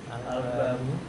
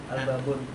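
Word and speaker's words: الباب: Al-babu. Al-babun. Oh, nggak boleh on, ada al.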